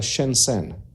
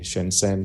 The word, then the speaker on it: Shenzhen: Shenzhen, hay varias formas de pronunciarlo. Se escribe en nuestro alfabeto S-H-E-N-Z-H-E-N, Shenzhen, Shenzhen, Shenzhen. Es así, hay varios dialectos dentro de la China.